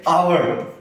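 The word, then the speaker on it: hour: जैसे आवर, हम लोग हावर नहीं पढ़ते, हावर पढ़ते क्या? हावर नहीं, आवर।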